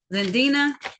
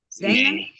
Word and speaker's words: Zendani: Zendina. Hello. Okay. Now calling the matter of the people versus Omar Zendina. Dana? Zendani. Zendani, thank you.